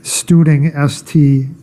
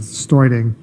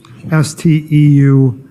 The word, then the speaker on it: Steuding: David Studing, actually I believe he pronounces Steuding, Steuding.